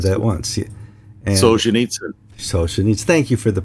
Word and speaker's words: Solzhenitsyn: And Solzhenitsyn. Thank you for the pronunciation.